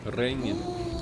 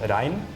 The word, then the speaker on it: regn: So in Norwegian it's the same written, but then in Norwegian it's pronounced rein, and then in a more Swedish accent you would pronounce a G, so then it's more like regn.